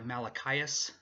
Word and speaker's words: Malachias: Also, by the way, I know but I go by Malachias, which is spelled just like Malachi in the Bible, and then add an AS at the end.